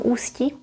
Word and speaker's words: Ústí: I know one lady from Ústí. I mean Ústí nad Labem on the north. You pronounce it this way, z Ústí, with a little tiny break in here. Znám jednu paní z Ústí.